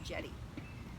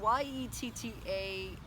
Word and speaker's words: Yetta: spelled it J t people would call me Jetty and I just wasn't convinced that I wanted that. So I changed the spelling to ye tta. And so now most people spell it JTA which just makes me crazy because that's like not either of my choices. That's like a something else. So ye ta.